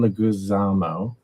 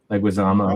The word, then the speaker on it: Leguizamo: I have to look up his name to pronounce it correctly, but John Leguizamo. Leguizamo.